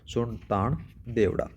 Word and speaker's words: सुरतान देवड़ा: सुरताना या फिर एक और नाम से इसका आ जाता है सुरतान के नाम से, इसको सही तरीके से प्रोनाउंस किया जाता है सुरतान देवड़ा।